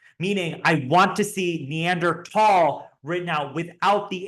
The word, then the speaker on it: Neandertal: pronounce the common name neander tall you say it with a hard T sound and you do not spell it with an H it is a hard te neander tall and so when you're